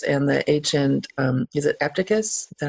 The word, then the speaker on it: Epictetus: Laurie Santos and the ancient, is it Epictetus? Is that how you say it? Oh, Epictetus.